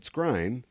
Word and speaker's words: Skrein: But Ed Skrein, it corrected itself because now I know how to say his last name, was cast as Dameo in the Hellboy reboot.